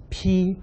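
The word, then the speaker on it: 被: 下面那个字读作披，披发人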